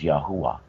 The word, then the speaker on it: Yahuwah: had the spirit of Yahweh actually the moment the more correct pronunciation for the creator of all things is yahuwah so I was told